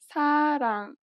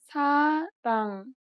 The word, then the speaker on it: 사랑: This letter is often represented as an R or an L, but you do not pronounce it this way. In fact, there is no equivalent sound in English for it.